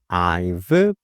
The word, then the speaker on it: I've: 그래서 I've played 이렇게 발음해 주시면 돼요. 발음해 주실 때 윗니를 아랫입술에 살짝 대주시고 발음해 주시는 거예요.